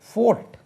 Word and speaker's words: fought: உச்சரிப்பு கவனிங்க, FOUGHT. நீங்கள் சரியாக உச்சரிங்க, நான் சண்டை போட வேண்டி வரும். ஃபோர்ட், ஃபாட்னா சண்டை போடலாம்.